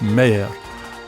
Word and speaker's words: mair: Common Scots pronunciations are yin for 1 and twa for 2, fower for 4, pit for put, and more becomes mair, while money means many.